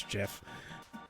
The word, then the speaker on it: GIF: a 20 minute argument you don't say Graphics it's GIF I don't I don't care he's wrong I actually do not care how you pronounce it but if I if we do have to get into the argument of it it's Jeff no it's not we're